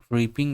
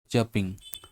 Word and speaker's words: chirping: ट्रीपिंग ऐसा पढ़ सकते हैं, ट्रीपिंग ऐसा, लेकिन ये एक्चुअल में चप चपिंग, ठीक है। इसका सही प्रोनाउंसिएशन होगा चपिंग। चप होता है इतने का, ये CHIRP चप बोलते हैं इसको, है ना। सही प्रोनाउंसिएशन है चप।